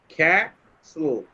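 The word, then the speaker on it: castle: এরপরেরটা একবার বলে দিলাম যে প্রথমে কি হবে, এখানে টি এর সাউন্ডটা সাইলেন্ট হয়ে গেছে, তাহলে কি হবে, টি এর সাউন্ড সাইলেন্ট হয়ে গেছে।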